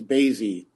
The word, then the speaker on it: Bazi: introduction the last names bazi rhymes with crazy the false clinton community